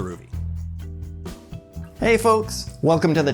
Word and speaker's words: Rouvy: what is it and how the heck do you even pronounce it is it ruy roie rui something else I'm going with a ruy hey folks welcome to